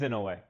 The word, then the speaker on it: Inoue: It is in a way. Inoue.